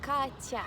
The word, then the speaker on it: Katya: My name should sound Katya. So the point is to pronounce it really like all together, and the first letter would be super soft and the second one coming all together.